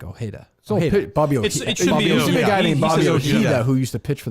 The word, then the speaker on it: Ojeda: picture I thought he I thought he said it like oh Heda who used to pitch